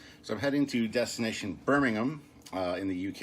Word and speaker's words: Birmingham: But it's Birmingham. You don't say the H. Birmingham. There you go. So I'm heading to destination Birmingham in the UK.